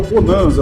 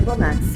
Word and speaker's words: Bonazza: Dá uma até a pronúncia do meu nome não é não é Bonasa, né? Se lê Bonasa, né? Mas é a pronúncia do meu nome é Bonaxa.